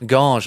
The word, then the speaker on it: Ganges: In a town called Ganges, which is really up in the hills. What's it called? Ganges? Ganges, like the Ganges.